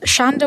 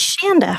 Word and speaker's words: Shanda: All right, next up, Shonda. Hello, Shonda. Welcome. It is Shanda. Oh, I'm sorry, Shanda.